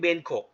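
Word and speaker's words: bengkok: มี คำ หนึ่ง ครับ คำ ว่า เป็น กก เขา ออก เสียง เบน กก มัน แปล ว่า คด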